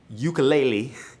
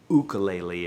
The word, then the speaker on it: ukulele: the guitar and the ukulele, you are going to understand how the ukulele works. You're going to want to go buy one. And it's actually pronounced ukulele if we're in Hawaii.